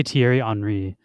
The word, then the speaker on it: Thierry Henry: let's see how you say his name too pronunciation how to say Thierry Henry I think I'm saying it right welcome everyone